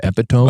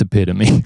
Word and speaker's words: epitome: saw the word epitome written down and I pronounced it epitome. Of course. And someone was like, just so you know, that's epitome.